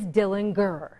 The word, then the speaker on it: Dillinger: They say the correct pronunciation of their last name is Dillinger.